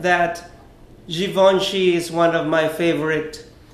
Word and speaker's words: Givenchy: fashion house of Geelong she yes darling it's pronounced Givenchy and not Givenchy for those of you that keep on pronouncing